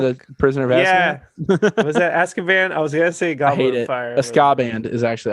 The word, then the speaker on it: Azkaban: harry potter and the prisoner yeah was that azkaban is actually how it's pronounced scott the prisoner of esca band that